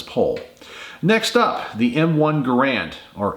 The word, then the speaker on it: Garand: Next up, the M1 Garand, or Garand, because the actual inventor of the rifle was John Garand. It's how he pronounced his name, so it really should be pronounced the Garand rifle.